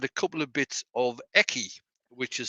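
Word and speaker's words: Ekki: And she'd messaged me before Harrogate saying that she had a couple of bits of Eki, which is spelled E-K-K-I.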